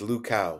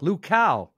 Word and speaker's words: Luchau: It's LUCHAU. LUCHAU. Oh, okay. As in like a cow, as in moo.